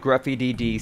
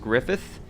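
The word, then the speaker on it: Gruffydd: I found it in the mod Gruffy DD Signs and Posters. Now someone commented in my videos a while back saying that Gruffy DD is actually pronounced Griffith.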